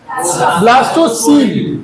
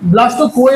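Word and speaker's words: blastocoel: का नाम ब्लास्टो सल ब्लास्टो कोल नहीं ब्लास्टो सील क्या बोलते इसको अगर ये ये स्पेलिंग बोलू तो बी एल ए एस टी ओ सीओ इ एल सही ना सीओई एल मतलब कोइल नहीं है ये सील है ब्लास्टो सील सील मतलब कैविटी इधर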